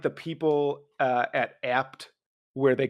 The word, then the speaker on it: Abt: well known and people Everyone that I've ever met calls it ABT but it's apt and it's a dude's name but nobody calls it